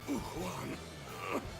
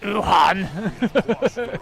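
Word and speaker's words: Wuhuan: And here I had hoped to build a future for the Uhuan. It's pronounced Wuhan.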